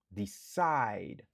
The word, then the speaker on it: decide: Il y a 2 syllabes, n'a accentué sous deuxième nan. Side. Decide.